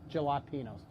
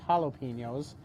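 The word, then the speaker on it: jalapeños: is uh some jalapenos that's how you pronounce them in montana gelatinos uh the more common pronunciation is jalapenos and your pro tip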